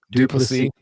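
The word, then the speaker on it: du Plessis: Henny Duplessis, poor guy, I keep picking on him, but Duplessis. There we go.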